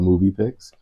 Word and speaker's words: muVpix: Movie Pix. It's spelled a little funny, we'll all admit that, but it's MUVPIX. Just a movie, so it's the same pronounced as movie.